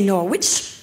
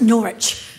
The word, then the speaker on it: Norwich: Because first I'm going to Norwich, which I had to learn how to pronounce because it says a W in the middle, but you can't say it. You can't say Norwich. Look, it's Norwich.